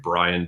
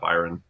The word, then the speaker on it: Bryon: there or my name Brian door which is b r y n d o r r it's spelled really weird it's not Byron it is Brian um and uh yeah